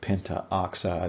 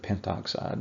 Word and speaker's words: pentoxide: prefixes from mathematics classes you do omit a syllable here and there sometimes I'm sure that we're not going to count that wrong if you accidentally add in an A and call it Penta oxide instead of pentoxide but generally the a